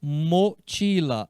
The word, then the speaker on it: mochila: O em espanhol é sempre o, se pronuncia mochila.